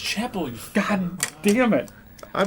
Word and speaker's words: Chappelle: It's pronounced Chapel.